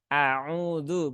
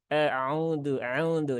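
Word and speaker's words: أعوذ: harakatnya kesempurnaan dalam pengucapannya Nah itu kurang membuka a auudu Bukan euduudu tapi a ya seperti itu terus huruf-huruf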